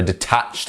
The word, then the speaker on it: detached: So a detached house. And notice how we are jumping once again from the d sound to the tatched.